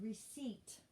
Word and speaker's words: receipt: e i and also remember on the word receipt there's a p in there before the t there's a p receipt c e i p t it's a silent p all right next word